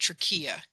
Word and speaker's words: trachea: And so the thyroid gland is just below that, and it overlies the windpipe, also known as the trachea, or you may hear it called trachea. That's more of a European pronunciation.